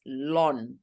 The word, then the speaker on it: ln: is written as LG log base e is written as Ln which is pronounced as Lon okay can so if I